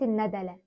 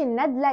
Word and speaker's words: الندلة: المشاهد واقول لك ان طول عمرنا لسبب غير معروف بننطق اسم الفيلم خلاص والنطق الحقيقي ليه هو عوده الندله يعني فتح الدال واللام مش النادله يعني السكون الدال كانك يعني بتجمع كلمه